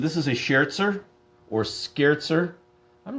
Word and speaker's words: Scherzer: Scott say he's always heard Sherzer. So have I. I believe that is the right way to pronounce it, but I'm asking everybody else.